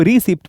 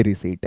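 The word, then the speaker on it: receipt: बहुत सारे लोग इसको रिसिप्ट पढ़ते हैं, ये रिसीट है।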